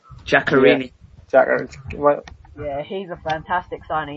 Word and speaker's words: Giaccherini: They brought in Ganarici from, or how do you say his name? Giaccherini.